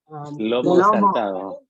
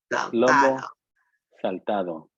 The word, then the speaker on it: Lomo Saltado: And especially to Otto Llamas for teaching us how to make, I'm going to mispronounce it again. Lomo Saltado. Lomo Saltado.